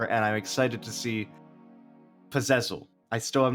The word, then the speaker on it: Puzezl: You always produce and are a great performer, and I'm excited to see Puzezl. I still am not pronouncing it right.